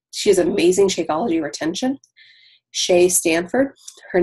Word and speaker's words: Seay: Shay Stanford. Her name is spelled SEAY STAND, I think, FORD.